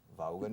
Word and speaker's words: Vaughan: Hello and welcome back to another half-hour segment of Vaughan en Vivo. Se pronuncia en inglés Vaughan, ¿eh? Pero aquí, en España, si digo Vaughan, nobody understands me. So I changed my name to Vaughan.